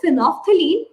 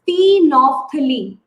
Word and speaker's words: phenolphthalein: Phenolphthalein. You won't pronounce L.